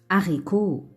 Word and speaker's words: haricot: Ici, le H devient muet. On ne peut pas le prononcer. Ici, on ne peut pas le prononcer. Le H devient muet. On l'écrit, mais on ne le prononce pas. Comme homard. Homard. Hérisson. Hérisson. Haricot. Haricot.